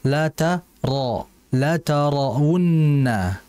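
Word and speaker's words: لَتَرَوُنَّ: Ra-nya harus dibaca tebal. Jadi ra-nya itu jangan ra kayak ra. La tara, ra, bukan. Yang betul la tarawunna.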